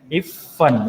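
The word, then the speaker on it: इफ़्फ़न: इफ़न। यहाँ पर देखो, डबल ये नुक्ता आया है, तो प्रोनाउंसिएशन कैसे होगा? प्रेशर होगा। इफ़न, इफ़न।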